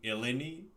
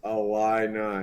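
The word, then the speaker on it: Illini: Illinois fighting Elani. Ali. Eli. Wait, what? So, it's pronounced Ali. Oh god. Okay. Well, I'm sorry. It's literally you just take all the O's out.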